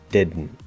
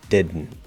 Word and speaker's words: didn't: other in the middle you can actually pronounce this just like Garden where there's this sort of nasal plosive it didn't didn't there are also more